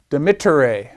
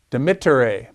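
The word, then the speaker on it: demittere: a short e so you pronounce that dimitto de mittere it's not dimiter de mitere it's a short vowel so third that indicates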